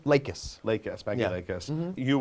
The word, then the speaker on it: Lakis: Lakis.